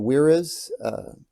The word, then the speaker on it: Wera: The Weras, that's how you pronounce it, W-E-R-A, they don't have one.